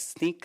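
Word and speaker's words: Snyk: uh sneak I know the spelling and the pronunciation is a little bit uh different uh it's sneak uh it's a B2B SAS tool for uh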